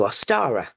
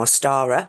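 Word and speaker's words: Ostara: 20th of March now aara spelled o s t a r a very similar to Easter and that is the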